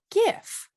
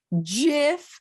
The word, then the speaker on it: GIF: graphics interchange format or gif in 1987. and the inventor thinks you should be pronouncing it jif not gif oh it is a